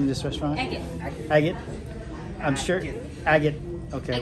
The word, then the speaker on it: Agit: Agit.